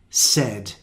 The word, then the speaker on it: said: this is very irregular a i is also the same sound said and we also have this